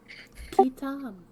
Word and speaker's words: Kam: Kam. That's beautiful. Thank you. Uh, know my own name. M at the end or an N?